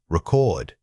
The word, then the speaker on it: record: This is a great example of stress placement. Most people naturally put the emphasis on the first part, but we need to pull that power and volume over to the second syllable. Say it loudly on the correct beat.